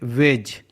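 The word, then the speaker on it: wedge: example देख लेते हैं जैसे वेज यहां पर जी है जी के पहले दी है तो दी यहां पर साइलेंट है इसलिए साइलेंट है ऐसे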